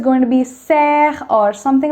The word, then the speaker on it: sœur: It gives you the sound which is neither O nor E. It's somewhere in between. It's not soeur, it's not sœur, it's sœur.